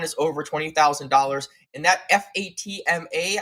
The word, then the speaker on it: Fatma: And that FATMA, I want to pronounce it Fatma, I believe it's Fatma. We looking at it in the back and we said, was that Fatima? She has been on before. It is not.